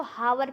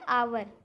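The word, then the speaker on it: hour: एच ओ यू आर बहुत लोग इसको हावर पढ़ते हैं लेकिन होता है आवर तो यहां पर जो एच होता है व साइलेंट लेटर होता है तो हम लोग को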